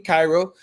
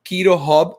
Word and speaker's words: QuiroHub: spanish yeah it's spanish-speaking cairo they can go to to quito hub it's not cairo because it's not c-h-i is is uh that's why we pronounce it quito hub yeah so in keto